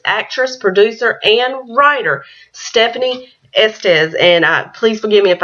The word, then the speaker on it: Estes: It's actress, producer, and writer, Stefanie Estes. And please forgive me if I pronounce your last name incorrectly.